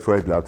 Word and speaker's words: Fredlocks: So I say, I call myself Fredlocks, start rhyme with dreadlocks.